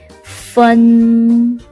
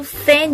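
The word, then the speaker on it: 分: 2번, fun. 또 이것도 fan 이렇게 발음하면 안 돼요. 곤란해요, 여러분. 자, 이거는 으어라고 발음하니까 fun이 되겠죠.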